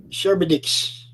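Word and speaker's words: Charybdis: of shower oh dear c-h-a-r-y-p-d-i-s if you can pronounce that sherbetix that's it that's it Well Done yep yeah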